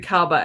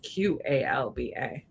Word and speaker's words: Qalba: But I was picturing Kalba as Kalba, but it's Qalba.